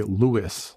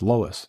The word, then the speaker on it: Lois: the owner's name is Lois and they say Lewis. I'm like, "No, man. How do you not know someone's how do you not pronounce Lois? It's Lois.